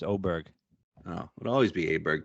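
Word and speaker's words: Åberg: I was more afraid of Aberg. Or how do we say his name? It was Oberg. Now it's Oberg.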